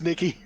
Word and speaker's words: Nike: call it Nike most countries they call it Nike which is not how they got us a victory's name is pronounced no Nick Nikki Nikki oh God it's Nikki I I've got a friend called Nikki they're